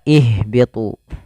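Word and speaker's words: اهبطوا: Jadi kalau dia huruf pertamanya fathah dan kasroh, itu maka dia diawalinya untuk huruf alifnya itu kasroh. Tapi kalau huruf ketiganya itu dhammah, maka dia awalnya dhammah. Maka di sini membacanya uqtulu, di sini dibaca ihbitu.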